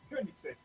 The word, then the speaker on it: Koenigsegg: It's pronounced Koenigsegg.